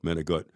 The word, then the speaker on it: manicotti: and they fed them manicotti. And they call it manigot. That's how you pronounce it, manigot.